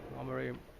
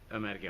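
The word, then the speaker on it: Ömeriye: And then actually you can see behind it the mosque we just came from, Omarai. I always have trouble with the names. How do you say it again? Omarai Mosque? Emerge Mosque.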